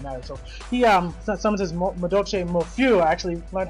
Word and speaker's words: Madolche Mofiu: So he summons his Madolche Mofiu. I actually learned how to pronounce that because these are obviously French-based names. So Madolche Mofiu, if you wanted to know how to pronounce that.